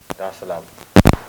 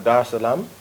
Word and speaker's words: Dar es Salaam: morning of the 7th, to come straight to Dar es Salaam. Did I pronounce that right? Yeah. Dar es Salaam.